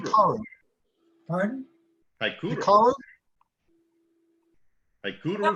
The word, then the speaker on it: Hikaru: Haikuru. Hikaru. Pardon? Haikuru. Hikaru? Haikuru. No, Bob's got it. How did you pronounce that?